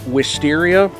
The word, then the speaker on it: wisteria: is a plant called wisteria it rhymes with the greatest def leopard album of all time hysteria i'm gonna draw this